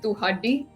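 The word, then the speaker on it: ਤੁਹਾਡੀ: But I guess like recently, I always said toddy for like yours, like toddy, you know, toddy chabi athipaya or whatever. And I recently found out the word's actually tuhaddi. So it's like pronounced differently to what I always, you know, how I always pronounced it.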